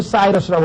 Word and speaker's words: Cyrus: 영어로 하면 사이러스라고 발음을 합니다. 왜냐하면 C자가 이게 라틴어에서는 K 발음을 하지만 영어에서는 C 발음을 하거든요.